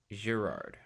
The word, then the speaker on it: Girard: or gerard gerard okay pronounce the g like a zh gerard rather than the the